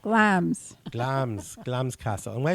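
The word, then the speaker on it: Glamis: a m i s so you think it's glamous that's why I keep saying that we were corrected that it is actually pronounced glams glams glams castle and why is glams Castle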